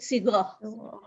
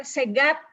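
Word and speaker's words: صيغة: sighah S atau orang Kalau uti mungkin mendengar segat gitu ya orang jawa orang Sunda nyebutnya segat tulisannya sigotun si SH ya gho dan ta marbuto bacanya shighotun kita bacanya sighoh sighah itu artinya susunan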